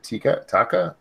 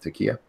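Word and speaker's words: taqiyya: They lie more than Muslims with taka. How do you say that? Takia.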